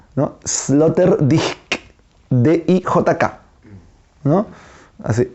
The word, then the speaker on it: Sloterdijk: Pero se pronuncia, así dicen, yo no sé alemán, debería pronunciarse, debería pronunciarse Peter, porque en alemán no es Peter, ¿no? Debería pronunciarse Peter Sloterdijk, así dicen que debería pronunciarse.